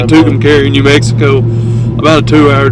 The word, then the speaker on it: Tucumcari: Tucumcari. Yeah. I think that's how you say it. Tucumcari, New Mexico.